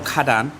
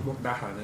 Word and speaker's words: Mukdahan: Mukhadan for Loy Kraton. Have I said it wrong? Mukdahan, innit?